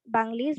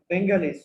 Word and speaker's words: Bengalis: Rather, on 25th March 1971, the Pak army started killing Banglis brutally. As a result, our বাংলিশ war না, এটা of হচ্ছে freedom বেঙ্গালিস। বেঙ্গালিস উচ্চারণটা হবে আমি বেঙ্গালিস।